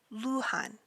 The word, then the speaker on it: Luhan: birth name is our next four remember is Luhan Luhan and his birth name is Lu Han